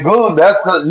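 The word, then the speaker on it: Şengün: Sengun.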